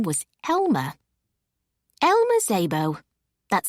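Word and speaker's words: Szabo: Elma Zabbo. That's spelled S Z A B O.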